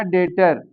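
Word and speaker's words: debtor: Date होता है कर्ज और इसी तरह यह हो जाएगा डेटर। यहां भी बी साइलेंट है।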